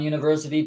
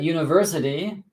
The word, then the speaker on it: university: Since it begins with like unicorn, university, there is a university near my house because it begins with a y sound, okay?